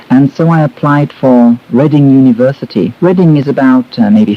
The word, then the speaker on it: Reading: It looks like reading, but it's pronounced Reading.